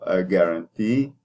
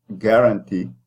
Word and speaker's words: guarantee: Because the T at the end is stressed, then you are going to put the E, which is tense. If you were to put the stress at the beginning of the word and say guarantee, which is not English that I know, then that means you